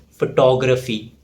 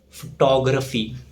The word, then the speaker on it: photography: The correct pronunciation is photography. The stress falls on tog, photography.